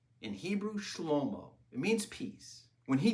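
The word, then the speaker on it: שלמה: Many people mispronounce his name and say Solomon. In Hebrew, Shlomo, it means peace.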